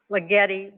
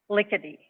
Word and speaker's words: Ligeti: Mike Reisinger, previously from this department, helped me with Hungarian pronunciation, which is, I believe it's not Ligeti, but it's Lickety.